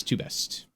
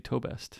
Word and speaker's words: Tobest: tobest two best it's two best luckily they have the japanese pronunciation right next to it even though they write in english which could be toe best but with the japanese